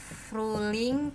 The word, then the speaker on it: Frühling: Tulisannya Frühling tetap gini, nggak pakai H, nggak dibaca H.